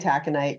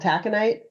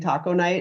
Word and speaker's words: taconite: It looks like it's spelled kind of taco night. Yeah. And so I always knew I always knew I had solicitors calling at work if they would say, "Is this Hibbing taco night?"